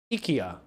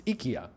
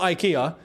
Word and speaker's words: IKEA: If we're going to say it correctly, as um as as the Swedes say, Ikya. Yeah. It's IKA. It's not IKEA. We've been saying it wrong for decades. It's not IKEA, it's IKA.